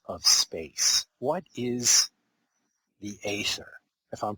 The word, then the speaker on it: ether: the substance of of space what is the ather if I'm pronouncing that correctly yeah ether ether it's spelled in two different ways e t h